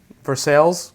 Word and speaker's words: Versailles: on Glen's Creek in Versailles and Versailles Versailles for sales Kentucky is out how you say it have you had